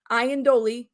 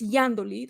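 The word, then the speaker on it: Iandoli: picture and this is the author cathy yandoly ian doley you would say it in english but it's yandoli that's how she pronounces it and it says people have been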